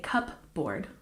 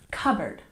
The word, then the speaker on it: cupboard: say the P sound we don't say cupboard we say cupboard cupboard for example I